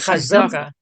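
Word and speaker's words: חזקה: Would you pronounce it in Yiddish a chazaka? You would say a chazaka. What did I say? Chazak. No, you said it right, but no. Well, yeah, you would say chazaka.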